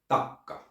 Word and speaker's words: takka: Then we have takka, a fireplace. There you should take your time to pronounce the double K. Takka. Think relaxed Italian or Spanish.